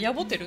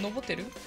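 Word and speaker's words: ノボテル: ボテル、ノボテル、ノボでいいのか、ここは私ヤボって読むとおかしくなるね。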